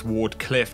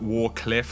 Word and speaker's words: Wardcliff: It's Wardcliff, not Warcliff or Wardiff.